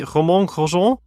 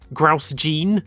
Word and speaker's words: Romain Grosjean: So, for the legendary Grosjean, a lot of people just say Romain Grosjean, which is close enough. It should really be Romain Grosjean. I think I've said some people say Grouse Jean. That was the most inventive pronunciation I've ever heard of that. But yeah, Romain Grosjean, Olivier Griard, Brian Gubby, André Guelfi.